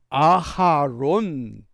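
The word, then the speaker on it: אהרן: 할 수 있습니다 그런데 엄밀히 발음하면 모세의 형 아론은 아론이 아니라 아하론 이렇게 발음이 됩니다 우리 번역은 아론 그러지만이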